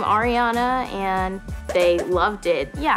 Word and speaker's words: Ariana: makes me feel kind and bright my name is spelled a-r-i-a-n-a ariana the first part of ariana is ari